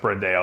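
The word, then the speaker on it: Brandão: Yeah, I think Rafael Brandao, I think it's pronounced Brandao. At least that's how Aceto pronounces it, and as Chris does his diet.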